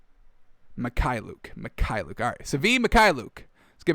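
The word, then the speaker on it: Mykhailiuk: Mikhailuk.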